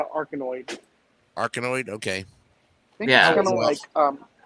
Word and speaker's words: Arkanoid: It's pronounced Arkanoid.